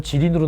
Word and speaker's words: 지린: 선생님 어떤 시험에서는 지린으로 나오는데 어떤 데 길림으로 나오는데 이게 왜 그런 거예요? 지린이 길림입니다. 우리식으로 발음한 거죠.